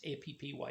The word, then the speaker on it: Appy: A-P-P-Y is the pronunciation of it.